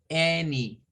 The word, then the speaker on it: any: Hemos visto que las A suenan a suenan a I, suenan a shua, pero no habíamos visto que una A se pronunciara como una E.